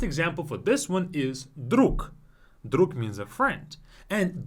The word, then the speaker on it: друг: Друг.